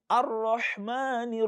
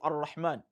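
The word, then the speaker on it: الرحمن: to the Ra of Ar-Rahman. Why? Because the alif and lam that precedes Ra in the word Ar-Rahman, they are ordinarily silent letters.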